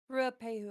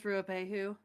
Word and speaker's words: Ruapehu: Ruapehu, I think. Yeah, that Yeah. is Ruapehu.